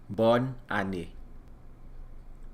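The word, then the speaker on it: bòn ane: Haitian Creole we say bonne année bonne année it sounds phonetically similar to the French born on it which is Happy New Year's as well all right as we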